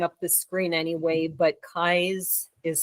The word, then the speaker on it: Keyes: And I should add, it'll be rolling up the screen anyway, but Keyes is spelled Keyes, correct? Oh, yes, correct, yes. Right. So it almost like keys, but with an extra E, you know.